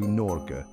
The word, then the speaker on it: Norge: transforms into the Intriguing word Norge pronounced nor the G is softer than its English counterpart almost like a gentle whisper between the no and the air the e at the